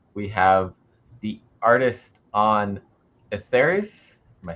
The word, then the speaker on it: Etheres: Comics talk tonight we have the artist on etheris am I saying it correctly first of all no etheris yes very good I've been trying to figure